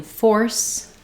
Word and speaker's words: force: but fairly similar pronunciation the only difference between force and fors is that Force the letter c say the s or S sound and fors the letter s says is the z sound um because of this